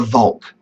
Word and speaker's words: Volk: Who was a member of the nation and who was outside the Volk, outside the nation, and became quite racist in this idea. That word Volk is a little bit like the word folk.